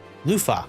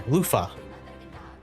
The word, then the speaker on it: Eupha: Luffa. Yeah, Luffa. Like the sponge thing in the every shower.